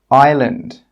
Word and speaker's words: island: The letter S is normally not pronounced when it's before an L. Some example words are isle, island, isle.